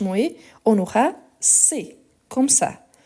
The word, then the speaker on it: cet: H muet, on aura C, comme ça. On les prononce ici, on ne prononce pas le T, mais on écrit avec le T. Donc on dit C.